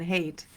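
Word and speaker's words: Haidt: another one is Jonathan hate who wrote the The Righteous Mind I think his last name is pronounced hate h AI DT would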